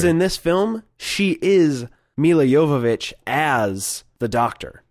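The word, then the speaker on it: Milla Jovovich: It's Mila Jovovich. Mila Jovovich.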